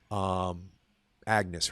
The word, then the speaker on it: Agnes: Maybe it is Agnes, Ag- but it's spelled. Agnes. We would in America would say Agnes. Agnes, yeah. But they don't say it like that in the movie.